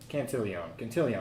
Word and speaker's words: Cantillon: and everything first, what it does is it Cantillon effect. Sure, maybe Cantillon. that's how it's pronounced.